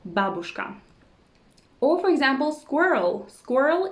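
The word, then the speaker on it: бабушка: that many foreigners know babushka babushka babushka you see it's not babushka it's babushka the correct stress is on the first syllable babushka or for example squirrel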